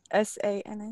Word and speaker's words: Sana: Is this, I'm sorry, I don't know how to pronounce this name, San? S-A-N-A?